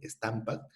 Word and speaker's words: Stamp Act: El Stampak, lo puedes pronunciar así, Stampak, que significa pues impuestos al papel para hacer periódicos, para hacer documentos notariales, para hacer contratos, por ejemplo.